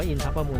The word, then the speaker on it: อินทประมูล: นี้ ก็ เป็น เป็น คิด อินทประมูล อ่าน ว่า อินทประมูล นะ นี่ จะ ไหว้ พระ